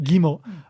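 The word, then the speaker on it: 肝: And again, we get the kimo, which is, in this case, it's pronounced gimo.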